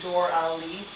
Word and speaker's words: Dora Lee: "Thank you, Dora Lee," she whispers, using my full name, pronounced Dor-Ali.